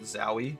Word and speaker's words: Zowie: I pronounce that company's name Zoe.